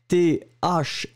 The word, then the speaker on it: thym: The second thing is le thym. Remember, it's a tricky one because you write it like T-H-Y-M, but you pronounce it thym. Un. It is really a nasal, so it goes there.